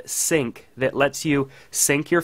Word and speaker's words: Cinq: at an application called sync that lets you sync your photos from your mac to your iphone so sync which is spelled cinq is an application for